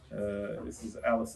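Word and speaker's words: Allis: Yes, well, Alice in this case is spelled A-L-L-I-S, which is a homage to Alice Chalmers' tractor, which of course is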